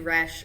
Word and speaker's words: Roesch: I am Roesch, rhymes with fresh.